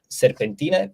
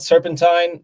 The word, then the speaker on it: Serpentina: our new new album Serpentina. It's not Serpentine. People tend to pronounce like that, but it's in Romanian actually.